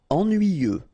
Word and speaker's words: ennuyeux: Ennuyeux. Okay, final X not pronounced, and then ennuyeux.